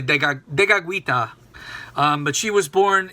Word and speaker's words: Tekakwitha: Saint Kateri Tekakwitha um as it said in Mohawk Tekakwitha I don't I don't know how people say it in English. I actually know the Mohawk pronunciation better than the English uh but it's really Tekakwitha.